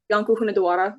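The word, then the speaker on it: Iancu de Hunedoara: Janko Hunadawara would be how his name is pronounced in Romanian, but that being something along the lines of John the Hungarian.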